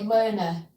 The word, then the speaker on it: Lerner: And we'll say Lerner rhymes with learner.